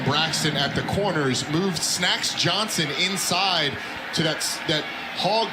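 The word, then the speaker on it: Snaxx: I have been mispronouncing it. Snacks, it's actually Snacks.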